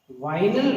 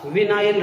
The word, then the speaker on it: vinyl: ये pronunciation freedom है, state by state अलग अलग जोन में अलग अलग तरीके से लोग बोलते हैं। कुछ विनाइल बोलते हैं, कुछ वाइनल बोलते हैं, मोस्ट प्रोबेबली विनाइल।